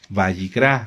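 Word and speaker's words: Vayikra: Bayicrá.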